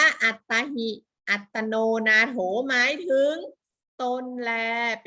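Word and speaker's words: อตฺตา หิ อตฺตโน นาโถ: พุทธศาสนสุภาษิต อชิ 1 นี้ อ่าน ว่า อัตรา หิ อตตโน นาโถ นะ คะ อ่าน ว่า อัตตาหิ อัตโนนาโถ หมาย ถึง ตน แล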